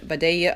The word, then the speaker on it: Vidalia: most favorite onion the Vidalia Onion and you notice how I pronounced that it was with my best Georgian accent I love these onions